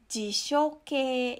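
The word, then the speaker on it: 辞書形: Nah, bentuk ini disebut dengan bentuk jishoke. Ya, ingat ya, ini dibacanya adalah ke, artinya adalah bentuk.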